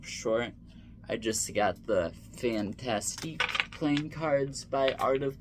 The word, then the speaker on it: Fantastique: And no, I did not say fantastic like that to sound funny. That's how it's spelled and pronounced. I've heard Dan and Dave say it.